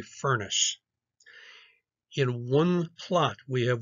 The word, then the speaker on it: Furness: very bad temper so think of it as a fiery furnace in one plot we